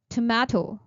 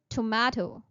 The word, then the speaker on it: tomato: Tomato. We use British English as our official accent for English, so we would say it tomato. Although tomato is also correct, but try to use tomato instead.